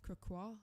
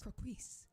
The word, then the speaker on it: croquis: This is Croquois? Oh, so that's how you pronounce it. I've always pronounced it as croquis.